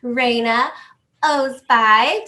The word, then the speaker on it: Reina Ozbay: We have an amazing opportunity today to talk to the lovely Reina Ozbay.